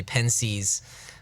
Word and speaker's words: Pensées: and it's been titled Pensées, which is the French word for thoughts. So published posthumously. Yeah, exactly. Okay, and in Pensée, or as the Anglo pronunciation, some people just say Pensées, there's a section there known as the wager.